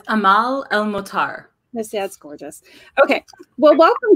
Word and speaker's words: Amal El-Mohtar: It's Amal El-Mohtar.